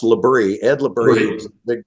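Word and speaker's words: Labry: And then you were the dean of the Labrey School of Business and Science. If I got that wrong, let me know. But No, that's right. It's pronounced Labrie.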